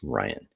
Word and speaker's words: Rijon: Rijon is pronounced Ryan.